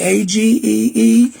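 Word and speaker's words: Agee: The AG family, A-G-E-E. Some call it Aggie family, but it's AG or Aggie family, ever how you want to pronounce it, but A-G-E-E.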